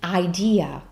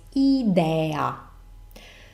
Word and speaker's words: idea: so in English it's idea in Italian as I was saying we pronounce vowels always the same way so it's idea let's see this in